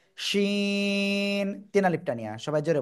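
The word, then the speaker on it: شين: উপরে তালুর সাথে লাগিয়ে শাসা শব্দ করে আমরা উচ্চারণ করব শিন তিন আলিফটা নিয়া সবাই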